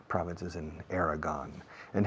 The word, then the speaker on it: Aragon: In Aragon, así se dice Aragon in English, yeah, Aragon.